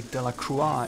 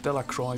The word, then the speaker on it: Delacroix: And by the way, I say Delacroix instead of Delacroix because I believe this is the proper pronunciation of her surname.